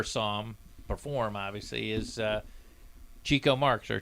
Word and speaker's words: Chico: and I never saw him perform, obviously, is Chico Marx, or Chico Marx is actually how I pronounce it.